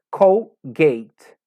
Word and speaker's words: Colgate: dental que todos conhecemos que dizemos colgate que na verdade é colgate colgate que os onde